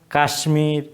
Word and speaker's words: কাশ্মীর: আবার এটা কাশ্মীর হওয়ার কথা, কিন্তু আমরা এটাকে কাশ্মীর বলি। তাহলে এটা কেন বলি? কারণ হচ্ছে এগুলোকে বলা হয় কৃতঋণ শব্দ, মানে এগুলোর উচ্চারণও যে ব্যতিক্রম, যেটা সংস্কৃত থেকে আসছে এইভাবেই থাকবে, এরকম এই শব্দগুলোকে বলা হয় কৃতঋণ শব্দ।